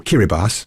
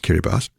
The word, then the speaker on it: Kiribati: they so for example kiribas spelled Kiribati but pronounced kiribas was one of the